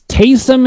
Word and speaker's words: Taysom: i said tariq hill i said tyson l okay it's taysom hill but you're saying